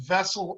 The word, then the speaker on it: VESL: Isiah, your son, like I said, I was looking at that website when I looked at Vessel Oils. Am I pronouncing that right?